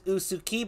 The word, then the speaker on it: Usukie: is all right folks got confirmation it is usuki but it comes from uh yusuki right is